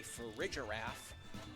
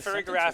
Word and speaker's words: Farigiraf: And on Colby's end, we have Fluttermane, Incineroar, Raging Bolt, the Farigiraf, Rillaboom, and Araquanid.